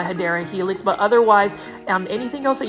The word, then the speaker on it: Hedera helix: There are a couple of things, like I definitely want to keep my Hydra Helix way of pronouncing my Hedera Helix, but otherwise anything else